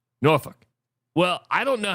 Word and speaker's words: Norfolk: I I I think a good one is like in Virginia Norfolk Virginia. Norolk.